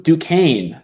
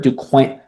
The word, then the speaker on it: Duquesne: Let's scroll down to Duquesne. Is that how you pronounce that? It's in Pittsburgh, Duquesne. I know I'm pretty sure it's Duquesne.